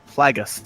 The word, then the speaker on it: Plagueis: might properly find him his name is uh Plagueis apparently vaguest what I guess nose I see